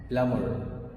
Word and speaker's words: plumber: بص كده للكلمة دي بتنطقها ازاي؟ معناها سباك. بلامر.